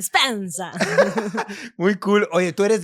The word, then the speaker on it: Spenza: ¿Lo pronuncié bien o no? Spensa. Espectacular, Sí. perfecto, salió muy bien, al italiano, bien italiano, Spensa.